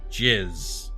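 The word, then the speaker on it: GISS: size and shape unfortunately that term in bird watching happens to be pronounced jizz so you'll go around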